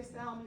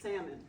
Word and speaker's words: salmon: And I don't say salmon, but I think the L is silent. So I say calcitonin salmon.